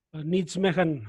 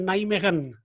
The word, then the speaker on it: Nijmegen: Atau sebelum itu saya mungkin tambahkan sedikit bahwa tadi dibaca oleh Pak Subelo itu Nijmegen, ya, bacanya sebenarnya Nijmegen.